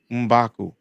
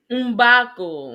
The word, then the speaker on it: M'Baku: M'Baku. Umbaku. Ombaku. That's double Yeah, M. Mm. M'Baku. Just to say that M'Baku. The first Umba. syllable in that is different.